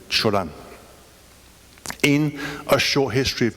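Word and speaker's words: Cioran: and aphorist em or if you pronounce it in Romanian Chan in a short history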